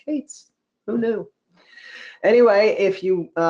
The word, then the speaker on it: K8s: of days ago that k8s which is short for kubernetes is actually pronounced Cates no new anyway if